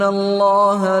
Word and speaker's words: Allah: Alors je vous passe ici un petit extrait de récitation du Coran pour que vous puissiez écouter la prononciation du L d'Allah. والله عزيز ذو انتقام إن الله لا يخفى عليه شيء. Voilà, j'espère que vous avez bien entendu ce L emphatique en version originale.